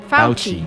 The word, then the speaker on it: Fauci: Fauci. Fauci. Fauci. Like if you're saying, ouchie, come help me, Dr. Fauci.